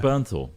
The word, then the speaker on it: Bernthal: You see, you can't remember his last name's impossible to Jonathan pronounce. Berenstein It's Bear. Bernthal.